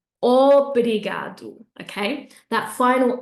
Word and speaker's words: obrigado: So you're either going to say something like obrigado, okay, with an ah sound at the beginning, but I don't want to hear that. I want a nice round o, obrigado, obrigado, okay?